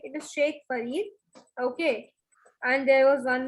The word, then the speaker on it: Sheikh Farid: Okay, and there you have mispronounced Sheikh. It is not Shahik, it is Sheikh Farid.